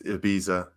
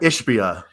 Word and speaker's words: Ishbia: me out here guys Matt it's Ibiza he goes no it's Matt ishpia ishpia yeah and he played